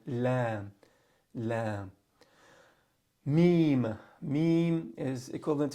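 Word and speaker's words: لام: All right, but here lam, you're not gonna say lamb. You're not gonna make it heavy. It's gonna be like lam, lam.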